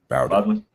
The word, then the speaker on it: Bowdoin: Bowdoin.